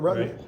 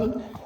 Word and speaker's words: Rutan: Well, how about, you know what, correct me if I'm wrong, the long easy, that would be Burt Rutan, how do you pronounce it, Rutten? Right. Rutten, that's a pretty cool plane too.